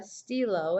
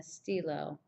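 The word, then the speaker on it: stylos: je n'ai pas de stylo, and it would just have an S on the end. You don't pronounce the S though, but je n'ai pas de stylo, even like that.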